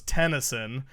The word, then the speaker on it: Tennyson: Either way, I mean, Ben's last name was Tennyson, pronounced like venison.